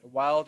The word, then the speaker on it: Weald: the Weald of Canada is pronounced wild or uncle vein usually